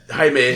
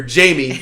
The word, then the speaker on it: Jaime: Jaime. Jaime. He told me Jaime, but then he told her Jamie. Well, because I'm white, so he didn't think I was going to be able to pronounce Jaime.